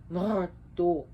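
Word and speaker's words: Mardöll: sorry Martha if it's if you're looking at it in Icelandic pronunciation they would see m-a-r-d-o LL which would be more dog because the Double L is a k sound so but uh more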